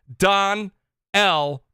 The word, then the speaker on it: Donnell: Smokes 901, Tactical Gamer, Donnell Brown. Wait a minute. Donnell told me I'm saying it wrong. He said, you're saying it wrong. It's Don L. Brown.